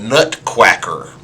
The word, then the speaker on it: Nutquacker: me this week the nut quacker i promise you i'm not mispronouncing that the nut quacker was